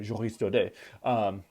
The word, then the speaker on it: Joris Daudet: I know it the French way, Joris Daudet.